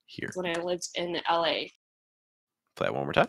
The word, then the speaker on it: LA: You want to make sure that you stress the A. So again, go higher in the pitch. Hold it longer. LA. So it's not LA. It's LA.